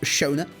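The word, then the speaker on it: Schöne: Danish people for saying, oh, his name's actually pronounced Shona.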